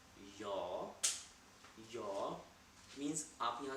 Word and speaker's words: ja: say in German in German we say your your means up your spelling dating game in GA